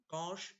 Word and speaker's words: cosh: And how do you pronounce it? Shine, cosh, tan or chinge or cosh etc.